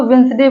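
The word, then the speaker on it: Wednesday: सही उच्चारण करना पड़ेगा आप वेडनेसडे बोलते हैं बुधवार को वेटस वेडनेसडे बोलते हैं लेकिन उसको वेनसडे बोलते हैं यहां पर डी साइलेंट है इसको वेनसडे बोला जाएगा डी साइलेंट है तो कुछ वर्ड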